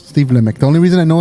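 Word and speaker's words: Steve Lamacq: lck is that it's pronounced okay I always pronounce it as lch no it's Steve lck the only reason I know is cuz there's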